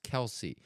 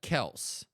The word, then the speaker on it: Kelce: and they didn't know how to pronounce Kelce. Which often if you don't pronounce it correctly, they don't give you like no one would have got it. Like cuz they were like Kells. And then they're like, oh well one of them says that's a correct pronunciation which I think Travis does say that.